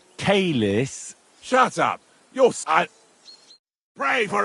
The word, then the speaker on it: caelis: Qui is in careless, sanctify qui adventit ad rec. Your turn. You're saying it wrong. Listen. It goes like this. Pater Noster qui as in caelis.